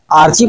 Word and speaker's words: archy: देखिए जो वर्ड है आर्की, इसी को ब्रिटिश और इंडियन इंग्लिश में इसको आर्ची पढ़ा जाता है और अमेरिकन इंग्लिश में इसको आर्की पढ़ा जाता है। तो इसका प्रोनाउंसिएशन से आप कंफ्यूज नहीं होना कि ये आर्ची है या आर्की है। इसी को हम आर्की प्रोनाउंसिएशन कर रहे हैं।